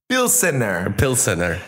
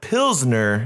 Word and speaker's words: Pilsener: Not Pilsner. Pilsener. Which is the name of the city and the style of beer. Right. This is Pilsener. Pilsener. Pilsener. Because it's Where's it from? Because it's made in El Salvador. So they actually they spelled it out like how they would pronounce it. Pilsener.